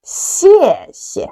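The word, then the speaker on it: 谢谢: If we want to express thank you to others, we need to say 谢谢. 谢谢 means thank you. Follow me. 谢谢. 谢谢.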